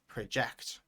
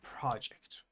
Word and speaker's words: project: If the apostrophe is at the beginning, then the stress is at the beginning. So here the stress is on the prā, and here the stress is on the ~dʒɛkt. Prəʻdʒɛkt and project. So you see the pronunciation changes and the meaning changes.